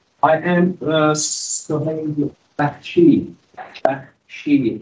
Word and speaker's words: Bakhshi: Bakhshi is the pronunciation in Persian. I'm from Iran originally, right? So if you are from South Africa, you can pronounce it perfectly.